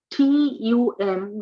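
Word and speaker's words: तुम: U is ooh. Ooh, yes. Tum. It is thumb in English. Yeah. Dictum, right? Like that, right? Tummy, tums. But that's English.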